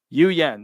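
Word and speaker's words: Nguyen: first n so if the N is silent it's Goen guen Yuen F Yuen phonetically Yuen that's how I pronounce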